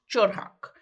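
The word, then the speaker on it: 철학: okay the world of philosophy in Korean is pronounced chorak it's literally means the study of wisdom so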